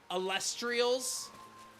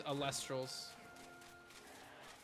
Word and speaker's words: Elestrals: A lot of people mis mispronounce the name of the game as Celestrials. It makes me cringe a little bit, but I understand the uh I understand the the mistake. But it is Alstrals and like I said, it was a great